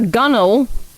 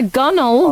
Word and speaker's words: gunwale: A gunnel. A gunnel. Oh, thank you, Kingle. Well, maybe they should spell it better. There are several words like that in the English language, where, like, if that's what you wanted to say, you need to not be spelling it like that.